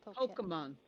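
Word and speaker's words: Pokémon: Pokemon. It's actually Pokemon. Pokemon. It's Pokemon. Pokemon. Well, Japanese. Oh, the accent is on the second syllable.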